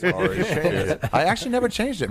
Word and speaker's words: Ari: I think we left off at Airy. Yeah. It's pronounced Ari, actually. It's Ari.